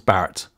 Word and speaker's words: Barrett: research later along comes barrett whose name also rhymes with parrot who's better referred to